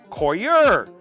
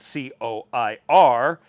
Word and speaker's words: coir: What's better, peat moss or Coir?